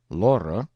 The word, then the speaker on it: Lore: Lore, 2 syllables, was a water nymph